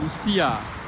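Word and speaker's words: Lucía: If you want to tease out that separate I or U, you do it with an accent like Lucia. I'm teasing out that I to be its own syllable.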